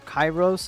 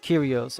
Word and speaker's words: Curios: You keep saying Chyros. It's pronounced Curios.